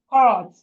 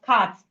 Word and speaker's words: cart: That thing they put at the back of the donkey is called cart. It's called cart. It's C-A-R-T. We shouldn't pronounce it as cat.